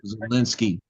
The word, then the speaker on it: Zelensky: Zelensky.